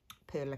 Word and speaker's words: perle: I've always said perle, but I'm not quite sure. So in the States, you guys say pearl, and in the UK and Australia, we mostly say perle, so who knows? I think it may be the French pronunciation, and none of us pronounce it like the French do.